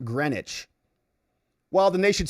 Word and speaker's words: Greenwich: Fred Pedamonte says, living in Connecticut, Greenwich, Connecticut is pronounced Greenwich.